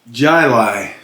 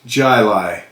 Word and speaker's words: Jai Alai: i got out of work um this is pronounced uh jylai this j-a-i-a-l-a-i is pronounced jilai and i had to look it up because i've never heard i didn't even know what language it is but jilai is actually a sport that's played originated and